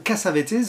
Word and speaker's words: Cassavetes: 1980 l'antépénultième réalisation de John Cassavetes ou cassavet vous prononcez comme vous voulez Gloria qui peut-être l'un